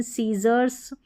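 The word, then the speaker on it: scissors: Y आ गया तो SC को हम स प्रोनाउंस करते हैं। जैसे कि यहाँ पर देखिए सीन, साइंस, डिसिप्लिन, सीजर्स, और ये है फैसिनेट और डिसेंड, डी है ना।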